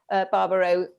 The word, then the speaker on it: Barbereau: we're delighted tonight to have Barbereau. That's how I say it.